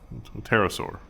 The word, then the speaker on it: pterosaur: 115 million years so there's the p is silent pterosaur oh yeah cause pterodactyl